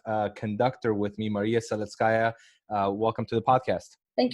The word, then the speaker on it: Seletskaja: podium I have a conductor with me Maria Solis kaya welcome to the podcast thank you very much